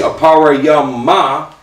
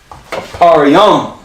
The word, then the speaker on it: Ephraim: It's not going to be aparayama. That ah falls off. Aparayum.